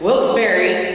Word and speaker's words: Wilkes-Barre: And I heard that let me say this right, Wilkes-Barre, is that right?